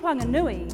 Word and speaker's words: Whanganui: wh and Mari in wanganui the H is aspirated so it's not a f it's a w it's not fui it's